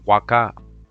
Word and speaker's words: Huaca: In Peru with the H, but it's pronounced Huaca, W-A-K-A, just like the site.